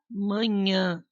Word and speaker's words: manhã: vou para escola toda manhã olha a diferença pessoal pronuncia ó manha manhã a salada de fruta